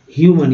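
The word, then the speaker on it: human: ह्यूमन, यहाँ पर यू का उच्चारण ई यू के रूप में हो रहा है ह्यू ह्यूमन ह्यूमन, यहाँ ए अ का उच्चारण अ के रूप में हो रहा है।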